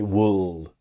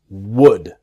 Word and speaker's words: would: Again, repeating myself, the L is silent. It's easy to make the mistake to say would, because maybe you see the L and you want to pronounce the L. It's silent. It's would. Would. Okay?